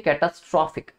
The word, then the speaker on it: catastrophe: आप इसका ही जब एडजेक्टिव देखते हैं ना, जब इसका एडजेक्टिव जो IC लग के बनता है, इसकी प्रोनाउंसिएशन होती है कैटास्ट्रॉफिक।